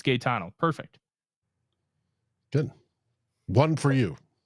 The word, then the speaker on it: Gano: the the pronunciation oh so I was right it's Gano perfect good one for